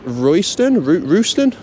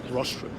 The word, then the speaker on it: Rostron: Dooley and Royston? Rostron. Dooley and Rostron.